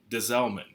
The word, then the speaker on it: Des Allemands: We actually just say Desalmon.